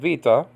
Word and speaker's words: beta: all right now um this is the beta nowadays called Vita okay and it's used